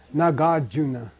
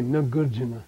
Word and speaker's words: Nagarjuna: Nagarjuna. Nagarjuna. You don't say Nagarjuna.